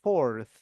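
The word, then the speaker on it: fourth: cara bacanya biasa for tapi ketika ordinal ada th-nya ujung lidahnya digigit aja forth ada F jadi fifth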